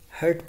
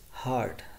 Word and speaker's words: heart: Uske baad bahut sare students heart ko hurt padte hain, so it's heart, right?